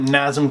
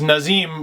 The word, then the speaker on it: Nazem: it's a goof on someone mispronouncing nazm as nazim I always thought it